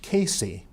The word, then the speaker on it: CACI: California approved civil instructions abbreviated CACI and pronounced Casey these instructions are broken